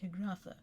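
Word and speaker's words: Haigha: His name is Higratha." He pronounced it as to rhyme with major.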